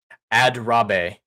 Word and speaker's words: Adrabe: Adrabe is how Wiley Dave is saying it should be pronounced. Adrabe.